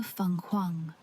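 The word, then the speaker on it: 凤凰: The Chinese phoenix is called the Fenghuang, pronounced Fenghuang.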